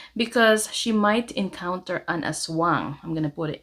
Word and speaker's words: aswang: in the world is an a Swang so that is a creature in the Philippines that can an evil creature that can shape shift a shape shifting evil creatures in Filipino folklore is how you say it and aswangs are particularly